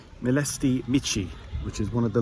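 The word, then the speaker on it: Mileștii Mici: Next destination, I have arrived at, and I'm going to pronounce this correctly, Melsti Mitchi, which is one of the largest wineries uh apparently in Europe.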